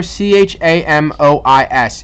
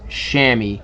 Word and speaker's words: chamois: we have one last this is called a chamois whenever you see whenever you see this word right here CH amo is it is pronounced chamois have no idea why I forever I've been